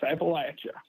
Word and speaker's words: Appalachia: Yes, Appalachia. That's how you say it.